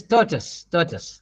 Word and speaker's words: tortoise: This tortoise. Please remember tortoise. Tortoise. No toy and all that, tortoise.